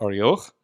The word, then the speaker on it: Arioch: So he declared, or he answered and said to, however you want to pronounce it in English, arioch is how we'd say it with Masoretic pronunciation there. So he answered and said to arioch.